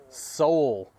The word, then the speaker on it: Sowell: Thomas, Justin, correct pronunciation of the last name, please. Sowell.